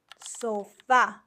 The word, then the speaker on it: sofá: Sofá, the stress is on the last syllable and it has an accent because it ends in a vowel.